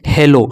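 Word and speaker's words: hello: और यहाँ पे डबल L, तो एक L यहाँ पे साइलेंट हो जाएगा और एक L O से हो जाएगा लो। क्या हो जाएगा, लो। तो इसे क्या पढ़ेंगे बच्चों, इसे पढ़ेंगे हेलो।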